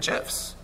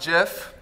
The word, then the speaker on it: GIF: been doing this wrong it's pronounced jiff not gif everybody it's pronounced jiff